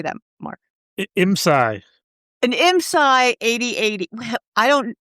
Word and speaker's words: IMSAI: IMSAI.